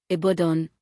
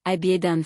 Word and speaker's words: Ibadan: Nigerian cities, Abuja, Abuja, Lagos, Lagos, Kano, Kano, Ibadan, Ibadan first syllable.